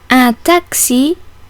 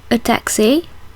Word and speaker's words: taxi: pronounced like an s the X in taxi is in the last syllable and so is pronounced like the X in English word Fox czm is an ordinal